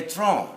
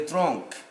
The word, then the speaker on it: tronc: You write C, you don't pronounce it. We have picked at random. Le tronc, not le tronc.